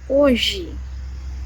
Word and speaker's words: hoje: Letter H in Portuguese at the beginning of the words has no sound. For example, the words hoje. I use this word all the time. Hoje. So hoje means today. It has an H, but we don't say hoje. It's mute.